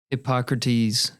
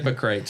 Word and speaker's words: Hippocrates: Hypocrates quote is a Did I say it right? You did. Okay. I wish you would have said it. If you hypocrites, if you had said hypocrites, I'd have fallen off the chair.